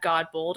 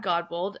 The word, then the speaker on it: Godbold: Today, my guest is Godbold.